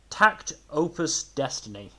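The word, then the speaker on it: takt op.Destiny: Moving on to, as I have now been informed, it is pronounced Takt.Op.Destiny.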